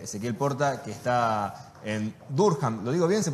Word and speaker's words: Durham: Depende en qué lugar de Inglaterra, pero para los locales acá es Durham o algo por el estilo. Bien. O sea, no va la H como J.